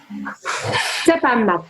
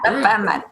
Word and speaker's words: Zäpämmät: Is it, how do you pronounce Zäpämmät? Like that. Okay. Zäpämmät. Yeah. Zäpämmät.